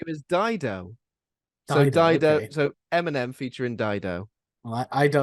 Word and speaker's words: Dido: this game entails um it just rhymes with Fido based on my clue